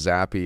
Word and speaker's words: Zappe: zappy is uh it's it's pronounced zappy apparently according to this speech modification YouTube video just like happy but zappy fat guy on to